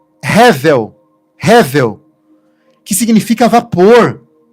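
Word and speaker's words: הֶבֶל: Abel em hebraico se eh se pronuncia revel.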